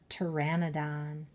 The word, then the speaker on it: pteranodon: It's a pteranodon. It's kind of a funny word. It starts with the sound T, but there's a P at the beginning. The P is silent.